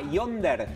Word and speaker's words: Yondr: producto que se llama Yonder. Así, como Tinder, pero con Y, Yonder, así como la misma pronunciación, que es muy sencillo.